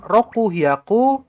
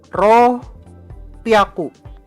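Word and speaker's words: 六百: Ya, 600-nya bukan roku hyaku, tapi ro piaku. Ro piaku. Bacanya ro lalu piaku.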